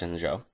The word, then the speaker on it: Shenzhou: It's spelled Shenzhou, but pronounced Shenzhou.